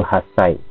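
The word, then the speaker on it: はっさい: Ini juga spesial ya jadi bacanya itu hasai ngomongnya has Bukan hasai tapi kalau P Boleh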